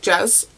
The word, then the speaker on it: Jez: And the reason for Jez is because my friend Kirsten back in high school, that's just how she pronounced it, like Jez. She, like her S's are Z's, and then she's the